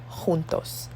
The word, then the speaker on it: juntos: J in Spanish is J. It's like an H sound. So we say Jamaica, jugar, justo, y juntos.